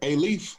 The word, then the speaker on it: Alief: Yes, sir, Alief.